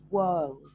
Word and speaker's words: world: so here remember reneem the way we say this word is not world world world so think of whirling twirling like we did with um a magical model whirling twirling world so this would be